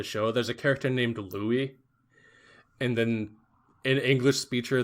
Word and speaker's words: Louis: And it's like, it couldn't be more clear that it's supposed to be the English name Louis. And it's Rui. Yeah, they're copying like the Japanese pronunciation.